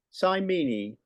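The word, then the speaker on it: Simene: Have I pronounced that right, Bob? And 3 minutes for you. Simony.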